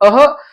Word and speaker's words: अः: तो इस प्रकार से आप यहां पे अह बोलेंगे, क्या बोलेंगे, अह, आहा मत बोलिएगा, आहा बोलेंगे तो फिर गड़बड़ हो जाएगा।